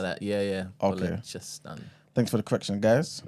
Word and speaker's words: Balochistan: And also, I think we pronounce Bollockstan wrong. Apparently, it's a CHA sound, not a K. Oh, what Balochistan? Oh, Balochistan. Is that what it Something is? like that. Yeah. Okay. Balochistan.